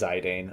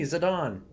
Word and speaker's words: Zidane: to be called and I know it's wrong but his name is zidane all right uh we're gonna we're going to just keep the default names actually yeah or maybe I don't know maybe I'll make a conscious effort and try and reprogram my brain by saying it's me zadon but it's going to be so hard dude this looks so good